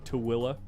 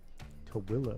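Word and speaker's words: Tooele: No, in Tilla. What the hell? Yeah. It's outside of Salt Lake City. That sounds fun. Yeah. Towilla. All right. Subject change. It's spelled T O E L E. Tilla.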